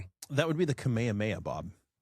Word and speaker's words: Kamehameha: Is it kamya or is it so if you actually if you pronounce it phonetically like English it looks like kameha but in Japanese it sounds like kamehameha.